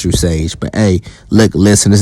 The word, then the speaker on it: True Sage: Yes, it's pronounced True Sage.